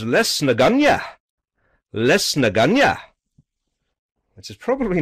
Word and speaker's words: Lisnagunogue: you have to so the locals refer to this as this is less naganya which is probably not